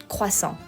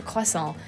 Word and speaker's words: croissant: I ask for a croissant, they're like, what? So I even have to do it, like fake the American accent, a croissant, please. And it's like, but I understand, the R is pronounced differently, and I guess it's